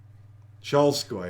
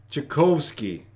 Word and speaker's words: Tchaikovsky: Cholskoy, I think it was. Cholskoy. First ballet. Tchaikovsky.